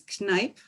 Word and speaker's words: Kneipp: He developed all kinds of water therapies, and the name is Kneipp. It's spelled K-N-E-I-P.